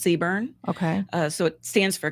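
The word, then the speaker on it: CBRN: job in the marine corps the acronym is pronounced seburn okay so it stands for chemical biological radiological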